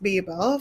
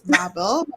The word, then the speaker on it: Babel: an English narrator it's Babel so we're just call it I guess yes bble in my head yeah you know it's it it looks like Babble and not Babel to me I don't